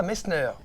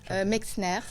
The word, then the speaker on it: Mexner: Et pour pouvoir en parler aujourd'hui, j'ai le plaisir d'accueillir Messner. Bonjour. Bonjour. J'ai bien prononcé. Mexner. Mexner. Nous avons le plaisir d'accueillir Mexner.